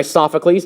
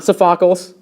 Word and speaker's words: Sophocles: plays are written by sophocles not sephocles um it deals with